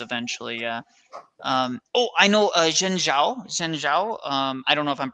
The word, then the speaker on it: Zhengzhou: The English way to spell it would be Zhengzhou. Zhengzhou.